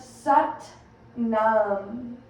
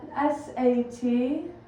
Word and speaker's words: Sat Nam: And we'll begin to chant Sat Nam, spelled Sat, S-A-T-N-A-M. It's almost pronounced Sat, a little like a U instead of an A in the S-U-T.